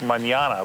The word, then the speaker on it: Manana: We're looking over at a place called Manana, like manana, but it's pronounced Manana.